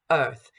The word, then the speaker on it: earth: Here we know that the TH in the word earth is pronounced voiceless. Earth. We also see that there's no American R in here. This is an English-British piece, so we just negate that R.